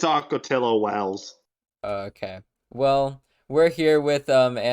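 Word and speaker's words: Ocotillo Wells: Is it Wells? I thought it was Hills. Anyway, I didn't say that, but It's Acotillo Wells.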